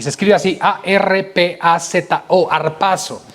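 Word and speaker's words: harpazo: Ahora, la palabra arrebatamiento es una palabra griega que es arpazo, y se escribe así, A-R-P-A-Z-O, arpazo.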